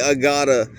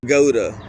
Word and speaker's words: Agoda: They didn't pronounce it Agata like I do. They pronounced it Agoda, which is not how it's damn spelled.